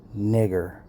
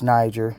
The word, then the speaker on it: Niger: Simeon, that was called nigger. Now, if y'all try to say, oh, man, you don't pronounce it that way, you're not supposed to pronounce it that way, it's Niger. Let's see what the biblical scholars say.